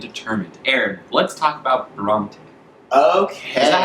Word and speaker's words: Bronte: capable willing and determined Aaron let's talk about brong okay is that how you say it yes